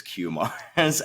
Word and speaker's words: Kumars: radical, I think, but I never in my own life corrected people about pronunciation of my name until very recently, probably college, I would say, and now I still have the sort of correct mispronunciation, which is Kumars, and then there's the other mispronunciations that are less acceptable.